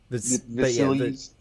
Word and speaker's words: Vasilis: But this is actually Vasilis. I think that's how you're supposed to pronounce it, actually. Vasilis.